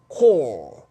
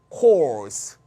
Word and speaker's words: corps: 요게 단수 모양인데 복수도 똑같이 생겼어. 근데 복수일 때는 역시 P는 발음 안 하는데 Z는 발음해요. 따라서 단수일 땐 발음이 core, 복수일 땐 발음이 course.